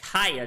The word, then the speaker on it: kaya: It's called Kaya Toast, which is spelled like kayak without the K at the end.